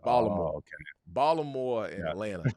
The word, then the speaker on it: Atlanta: Atlanta, Georgia, right? Because, you know, Atlanta and Baltimore are the only places where, you know, you don't even mention the T.